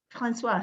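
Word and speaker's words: François: see francis francis please francis cabore oh francois sorry i didn't pronounce his name correctly francois did i see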